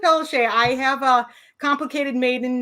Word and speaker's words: Pelletier: I just butchered your last name. Can you say that again? Pelletier.